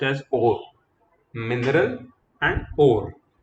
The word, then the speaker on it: ore: ठीक है, इट is pronounced as ओर.